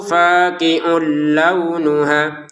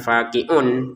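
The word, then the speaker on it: فاقع لونها: Sofrou faqiul launuha. Tanwin bertemu lam di sini kita masukin sehingga cara bacanya faqiulla. Jadi bukan faqiun lagi.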